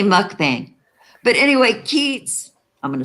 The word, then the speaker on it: mukbang: you could do a mukbang you know okay you guys I I say mukbang mukbang I have heard some of the experts in the field pronounce it mukbong like it was from Thailand I I don't see